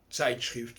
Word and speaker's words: Zeitschrift: Vous savez que dans beaucoup de langues, notamment en allemand, le Z se prononce Tz. Herzl, Herz. Zeitschrift, Zeitung.